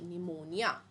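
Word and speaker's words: pneumonia: पी से start होता है और पी साइलेंट होता है। अब इसका स्पेलिंग क्या होता है? पी एन ई यू एम ओ एन आई ए निमोनिया।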